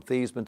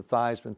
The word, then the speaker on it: Theismann: think by just simply changing the pronunciation of your last name from thieves men to Theismann to rhyme with Iseman we can give you